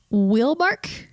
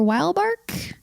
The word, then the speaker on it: Wielbark: this would be the willark culture or wildark where are they from they are it's it's a German Town V bark so maybe actually in